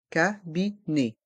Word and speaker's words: cabinet: médical le cabinet médical dans le mot cabinet le E et le T font le son e cabinet le cabinet médical le